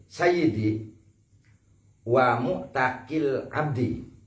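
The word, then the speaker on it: مُعْتَق: alal muktikil sayyidi wa muktakil abdi. Jadi muktik yang pertama itu bil kasr, muktak yang kedua itu bil fathah, karena berpengaruh terhadap makna.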